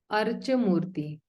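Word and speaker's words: Arcā-mūrti: So this is actually Archa Murti. This is pronounced as Cha, Archa Murti.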